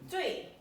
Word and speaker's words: 最: This one is 知滋味最 That's the fourth tone. 最 Zui means utmost.